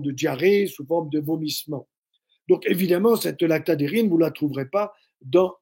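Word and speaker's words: lactadhérine: protéine qu'on appelle la lactadérine Lacta comme ça se prononce di dérine DH e r dhe R n qui elle va lutter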